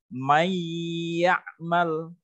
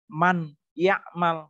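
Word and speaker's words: مَنْ يَعْمَلْ: Membacanya mayyamal, bukan man ya'mal, salah. Kalau jelas man ya'mal, salah. Tetapi membacanya may ya'mal, nunnya hilang, masuk ke huruf ya, huruf sesudahnya.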